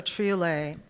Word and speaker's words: triolet: Limbo Triolet. And now I know how to pronounce that form.